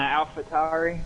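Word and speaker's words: AlphaTauri: we got mccary and the alphatari which i just figured out is how you pronounce that towery and not tori southern accent i guess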